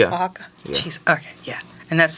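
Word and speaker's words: Oaxaca: yeah it's actually a a state in Mexico Waka oh that cheese is from there right Waka cheese okay yeah and that's the that's the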